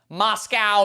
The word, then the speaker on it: Moscow: I guess we do say a cow. What? What? Where do you get milk? A cow. We don't say a co.